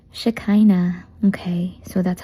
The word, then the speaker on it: Shekinah: It sounds like So it's shikina. That's how you pronounce it. Pero I'm sure a lot of you are saying shikina or takay na pero huwag niyo akong sasakyan kasi ang sakit na po ng likod ko. So it's just shkina.